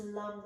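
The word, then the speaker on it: Lam: L-A-M, it's pronounced lum though, more you, Lunge.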